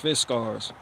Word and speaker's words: Fiskars: Swedish Fiskars that's how you say it is pronounced Fiskars x-27 splitting ax right here and this thing